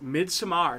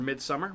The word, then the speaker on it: Midsommar: and that again is mid samar directed uh written and directed by arie astor or midsummer whichever you want to do if you want to do the american uh pronunciation uh you can find